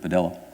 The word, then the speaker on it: Padilla: involving a man named Jose Padilla um or as he preferred at the time to pronounce it padel uh who was picked